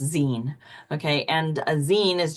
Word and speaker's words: zine: So zine is a shortened version of the word magazine. So it's pronounced zine.